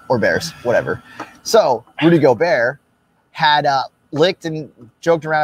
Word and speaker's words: Gobert: You said it right this time. Rudy Gobert licked a bunch of mics. He called him Rudy Gobeer.